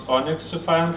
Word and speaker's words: ONNX: is this standard ONNX, Open Neural Network Exchange, pronounced ONNX if I am correct.